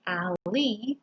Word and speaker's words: alley: e you can remember it's pronounced ali because there's an e in the spelling this talking about a